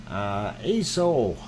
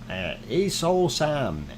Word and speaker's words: Aso: Aso, Aso-san. It is spelled A-S-O. It is Japanese.